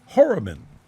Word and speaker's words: Horobin: My second hour guest is David Horobin.